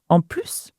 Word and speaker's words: en plus: Now, en plus, moreover. Now here's another "plus". When you're saying "en plus" here, you've got to have the S sound: En plus. Okay? Because there is no word afterwards.